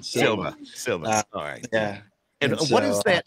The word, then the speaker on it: Sylva: uh from western north carolina and you did pronounce it right silva yeah and what is that near matt what